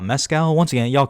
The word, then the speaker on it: Mescal: Paul Mescal, which I guess it's pronounced Mescal, not Mescal.